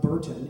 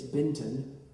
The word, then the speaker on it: Benton: It's not Burton, it's Benton.